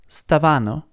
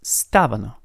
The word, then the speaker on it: stavano: last one it's not stavano but it's stavano so the pitch is on the first a and not on the second a which is strange because